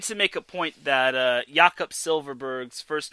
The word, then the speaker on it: Jakob: His first name is pronounced Jakob. Jakob Silverberg. Not Jacob, Jakob. If I see anyone pronouncing Jakob's first name Jacob, I'm going to say that is not how it's pronounced.